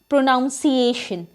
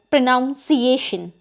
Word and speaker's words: pronunciation: It is basically pronounced as pronunciation, but as you can see, there is no noun in this word. For example, Sita has a poor pronunciation, but we basically speak it as pronunciation, which is totally incorrect.